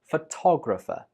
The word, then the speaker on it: photographer: But when you are the person that takes the picture, you are a photographer. The stress is on to. Photographer.